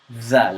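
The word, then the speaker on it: ذ: say it like this you say Val that zal and this is why I have a separate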